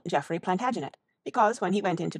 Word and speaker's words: Plantagenet: covered with his visor the Latin name for broom is plantag genista and gradually it came to be pronounced plantagenet although Jeffrey was French he